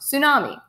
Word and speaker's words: tsunami: kind of wave is a tsunami pronounced tsunami a Japanese word for sea wave a tsunami is generated